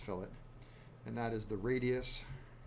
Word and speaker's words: fillet: have the fillet also called the fillet that's pronounced fillet and that is the radius at the end